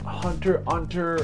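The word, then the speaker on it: Hunter × Hunter: is a fan of hunter x hunter apparently it's pronounced hunter hunter or you know like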